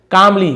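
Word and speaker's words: calmly: रिप्लाईड second form कामली। कामली यानी होता है शांति से। तो एल साइलेंट होता है कामलमली नहीं होगा कामली तो जो दूसरा दोस्त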